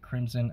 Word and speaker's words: Krymson: and the a so i call it crimson avenger spelled with a k uh the reason i